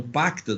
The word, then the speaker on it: pacta: Então, pacta, do jeito que se escreve, P-A-C-T-A, né? Então, pacta, sunt é S-U-N-T, sunt, servanda.